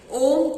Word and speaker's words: ओम: ओम 3 अक्षरों से मिलकर बना है, आ, उ, मा।